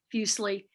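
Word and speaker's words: Fuseli: the beginning here um i pronounce the name fusely uh as i've been saying it fusely like muesli the you know the swiss uh cereal and he is swiss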